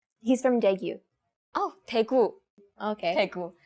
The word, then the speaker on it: 대구: Oh, 대구. Okay. 대구. Daegu.